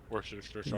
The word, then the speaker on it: Worcestershire: Worcestershire. Yes, that's the Worcestershire. Worcestershire. It's Like, just that's how Worcestershire. it's spelled, right?